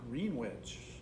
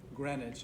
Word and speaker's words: Greenwich: use green because it's called green witch no it's not greenwich is how it's said it looks like sandwich greenwich uh i think